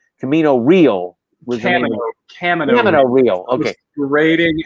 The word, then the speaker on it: Camino Real: Camino Real was Camino Real. Okay. Rating anglicized pronunciation.